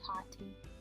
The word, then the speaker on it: Tati: I just got it because I watch Tati on YouTube. Well, Tati. That's how she pronounces it.